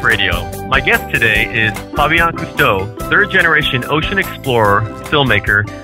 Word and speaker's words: Fabien Cousteau: man on petlife radio my guest today is Fabian custo third generation Ocean Explorer filmmaker and environmental Renaissance